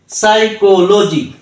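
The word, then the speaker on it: psychology: করব কো সাই এল লো জি ওয়াই জি সাইকোলজি সাইকো লোজি সাইকোলজি তার মানে কি হল পিটা সাইলেন্ট এস ওয়াই সাই সিও কো এল লো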